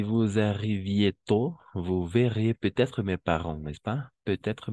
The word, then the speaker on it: peut-être: Pero se va a pronunciar peut-être con la T más. O sea, como liaison.